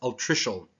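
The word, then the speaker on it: altricial: I actually went and tried to figure out how to pronounce this. It's Articial.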